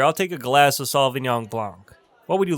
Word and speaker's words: Sauvignon Blanc: a bottle of chardonnay chardonnay that's how you pronounce chardonnay all right moving on to the next we have sullivan yong blanc i say again sullivan yong blanc hey bartender i'll take a glass of sauvignon blanc what would you like to drink i'll drink